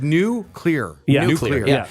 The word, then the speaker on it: nuclear: And you're supposed to say it like new clear.